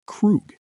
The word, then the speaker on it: Krug: dropped on the 15th via his own label, pronounced Krug.